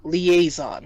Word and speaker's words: liaison: Now, this is something that's called liaison. In English, liaison, right? When you're linking two things together. And it's the idea that you have a word where usually the final consonant is silent. But when it's followed by a vowel, you will pronounce that final consonant. And the logic is really, it's all about flow.